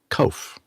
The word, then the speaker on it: Kof: So I asked him again how to pronounce it, and it's Kof, like loaf.